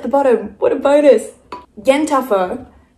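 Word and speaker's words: yen ta fo: let's start with the yen tougher so this is an amazing bright paintbrush yes congealed blood at the bottom what a bonus Jen tougher pronounced Yenta like a gossiping Jewish woman and four as in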